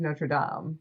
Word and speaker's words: Notre Dame: So the first one is Notre Dame or Notre Dame? The correct pronunciation in French is Notre Dame. Okay. So Notre Dame is what they call the football team.